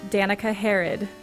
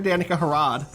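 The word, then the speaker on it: Danika Harro: o you could call you could also call her Danica harod if you wanted to say it wrong like me you want har any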